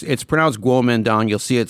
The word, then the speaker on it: Kuomintang: Yeah, it's pronounced Kuomintang. You'll see it spelled like as if it's spelled Kuomintang or Yeah. Tang. That's you pronounce it Kuomintang.